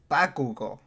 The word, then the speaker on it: Bakugo: gotta say it right you know i said bakugou you know i said he said bakugo you